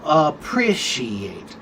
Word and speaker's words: appreciate: So for example, appreciate is on the second syllable. appreciate.